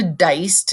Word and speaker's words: Deist: Sandra Deist, and that's how it's pronounced, kind of like guy, but it's Deist.